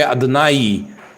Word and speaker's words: Adonai: d h here is o n is a n and n Kam a and is y the sound of e so we say Adonai Adonai this word means